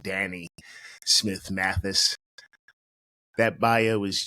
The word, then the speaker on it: Danne: Friends, that bio couldn't begin to demonstrate all of the things that my friend Danny has done. By the way, that's how her name is pronounced, Danny Smith Mathis.